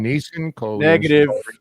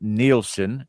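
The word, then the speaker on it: Neeson: and Jen got Liam niss got taken he did not say Liam niss he said Liam neelsen so that does not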